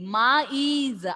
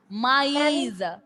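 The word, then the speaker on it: maïs: Maize. R sound is also should be clearly audible, and E sound should also be clearly audible. Maize. Maize.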